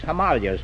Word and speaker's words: Himalayas: Rhymes with jelly. Oh. Himalayas has gone out of style, too. It's Himalayas now.